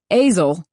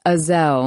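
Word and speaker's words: Aysel: website of the moment Azle Mr Palmer my supervisor snaps mispronouncing my name as always it's a Zell not Azle but he doesn't care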